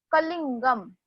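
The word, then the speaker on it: कलिंगम्: अभी सिर्फ आपको याद रखना है कि उसको न जैसा प्रोनाउंस करोगे. कलिंगम. कलिंगम. ओके.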